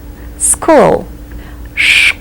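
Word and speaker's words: школа: can you guess school schoola starts with a very strong sh sounda so let's take a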